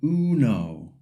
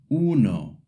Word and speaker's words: uno: The wrong way is to say you know or uno. The u in Spanish sounds like u. And the o in Spanish sounds like o. So the correct way is uno.